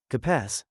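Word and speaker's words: capaz: Capass is ca like car plus pause like English. Pause.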